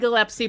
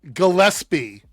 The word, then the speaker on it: Gillespie: I know it's directed by Craig Glepsy, but it really just seems Gillespie. So, you're saying it wrong because you think that's how it's pronounced. It's the second time you said it incorrectly.